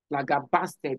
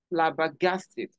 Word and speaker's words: flabbergasted: you hear them say I was flab basted flab basted it's not flab basted but rather flabbergasted flabbergasted flourish flouresent flouresent take